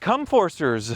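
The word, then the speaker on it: Comforser: o r s r com forcer that's not how you would pronounce that what other way is there to pronounce it com forcer like com like comfort comti you you said it right the first time I think com forcers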